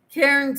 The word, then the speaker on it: Cairns: Cairns is pronounced like cans.